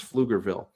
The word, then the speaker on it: Pflugerville: Everyone knows that PF sounds like F, though. It's really easy to pronounce Pflugerville.